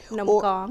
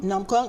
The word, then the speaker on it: num kong: So this book isn't just about Nam Kong. Let me get the pronunciation correct. Is that right? Nam Kong. Nam Kong or donuts.